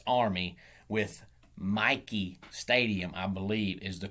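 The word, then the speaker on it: Michie: but it's army with mikey stadium i believe is the correct pronunciation i know it's spelt m-i-c-h-i-e but i believe the correct pronunciation is mikey stadium home of the army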